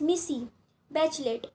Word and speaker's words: Michelle Bachelet: That girl, Michelle Bachelet, pronounced Missy Bachelet, was elected president of Chile in January 2006.